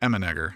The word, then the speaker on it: Emmenegger: out his name tag it's a real last name pronounced similar to how Arnold Schwarzenegger's name is emmenegger and it's a last